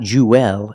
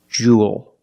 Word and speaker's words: jewel: pronunciation this word Jewel it's pronounced the same as cool and pool you have the long u sound plus the dark L there's no extra vowel it's not Jewel it's Jewel like pool and cool